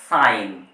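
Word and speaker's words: sign: সাইলেন্ট নয় আবার দেখুন এস আই জি এন এক্ষেত্রে জিটা হবে সাইলেন্ট উচ্চারণ করতে হবে সাইন সাইন কিন্তু এটার ক্ষেত্রে দেখুন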